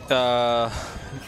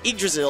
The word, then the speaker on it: Yggdrasil: All right, so Drazzle doing a good... I don't know how to pronounce his name. You can say Drazzle. Drazzle. Yeah, it's Yggdrasil.